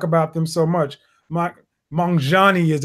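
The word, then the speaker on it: Magnanni: because i talk about them so much my mongani as it's pronounced apparently i call it mcnani that's what it looks like to me um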